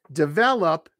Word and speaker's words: develop: Sabir, how do you pronounce develop and development? I just did it. Develop, three syllables. The stress is on the second syllable. Develop.